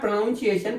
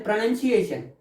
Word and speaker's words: pronunciation: It's not pronunciation, pronunciation.